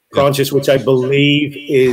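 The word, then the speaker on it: Proinsias: It's Prontius. Oh, yeah, I do mean Cassidy himself. Yeah. I'm sorry, yeah. It's Prontius, yeah.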